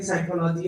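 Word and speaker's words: psychology: में आए तो ऐसा, जब स्पेलिंग देखी तो उसकी साइकी से स्टार्ट होती है साइकोलॉजी, तो ये तो अलग ही शब्द था, और बोल रहे हैं साइकोलॉजी और पी से स्टार्ट हो रही है।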